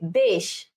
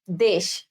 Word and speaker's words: দেশ: নিয়মে যখন আমরা যাব, বলছে যে তৎসম শব্দের ক্ষেত্রে এ সংবৃত হবে। তৎসম শব্দের ক্ষেত্রে কি হবে? এ সংবৃত হবে, অর্থাৎ তাইলে আমাদের কি ছিল? এর উচ্চারণ এর মতোই হবে। তাহলে দেখো যে দেশ, দেশ।